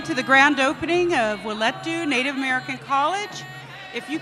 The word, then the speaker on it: Wileety: So we're going to play that briefly so that all day we know what the pronunciation is. Thank you. Wileety, Native American College.